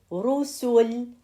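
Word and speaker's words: رسل: Or we say Rusul. Rusul. It's have Dhamma, so it's gonna be heavy too.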